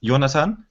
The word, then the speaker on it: Jonathan: it's my German so the German pronunciation of my name is yonatan and when I try